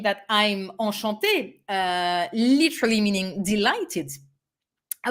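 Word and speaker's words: enchanté: who's probably a man can say enchante this way with final e pronunciation will remain exactly the same so when you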